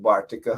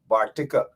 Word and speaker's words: Bartica: Notice I said Bartica, how it should be pronounced, right? Bartica.